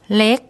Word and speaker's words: เล็ก: The initial consonant is the lorling L, and the final is gorgai, which makes a K sound. So I'll let Pom pronounce that for you. เล็ก เล็ก เล็ก That's the Thai word for little.